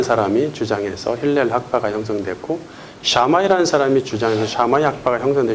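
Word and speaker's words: Shammai: 어 당시 유대교회는 크게 두 가지 학파가 대립하고 있었으니 샤마이 학파 또는 샴이 삼마이 뭐 이렇게 하는데 원어를 발음하면 샤마이가 맞습니다. 샤마이 학파 힐렐 학파가 대립하고 있었죠.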